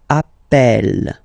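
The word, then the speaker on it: appelle: form Double L so when you get this a vowel and then you get a double consonant and well they are the same then it does change the pronunciation of of uh you tend to pronounce it like e e really open that's the reason why you pronounce it Appel Appel okay Appel Appel Appel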